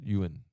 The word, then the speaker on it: yuan: In English two quick syllables. Yuen.